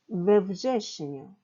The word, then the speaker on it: we wrześniu: 자, 9월에 보시면 무제셴, 무즈, 자음 앞에 전치사 부가 또 붙으니까 자음 이렇게 발음이 부가 두 번 있기 때문에 전치사에 에를 넣은 겁니다. 그래서 외부제시뉴 이렇게 읽는다는 것.